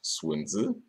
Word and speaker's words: Sun Tzu: As Sun Tzu could have told me, and by the way, it's pronounced Sun Tzu, the outcome would be decided before the fight even began.